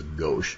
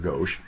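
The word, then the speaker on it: gauche: that's referred to as go g Au c h e now it's actually a French word meaning left like left versus right not sure why that's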